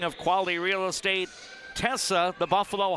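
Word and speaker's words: Quale: KV A L E is the spelling of Quali Real Estate. Tessa, the Buffalo High School goalender. Her last name is spelled with a Q. Qu U A L E, but they're both pronounced quali.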